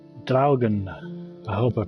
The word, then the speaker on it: Draugen: I know that there have been videos out there that just said Draugen, but I believe that it's called Draugen, so I'm going to call it Draugen.